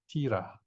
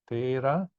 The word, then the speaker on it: Thera: The adjective has an I here, Thera. Okay? And here with the E or the, we pronounce as or a, Thera, meaning one who is stable, an elder.